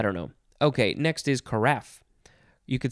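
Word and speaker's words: carafe: know okay next is karaf you could say karaf or you could say karaf if you want to sound a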